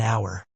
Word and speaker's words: hour: Even though these words begin with the letter H, the H is silent. So, they begin with a vowel sound and we use an. Sentences: I waited for an hour.